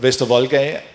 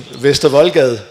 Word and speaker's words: Vestervoldgade: and go up of Vestervoldgade and Voldgade. That sounded really bad. I mean, Vestervoldgade, of course. I'm going to go on. I was just trying to pronounce it if you're not Danish, of course.